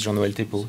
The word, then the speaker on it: John Walton: activity at ECMWF and my name is John Walton this is right pronunciation first for those of